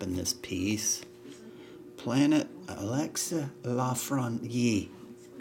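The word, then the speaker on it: Lafrenière: this piece Planet Alexa La fron Yee that's how they say it in his native tongue cheddar Tyler to Foley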